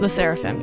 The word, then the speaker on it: LE SSERAFIM: way to say it Las seraphim Las seraphim L seraphim yeah and I say leim but a lot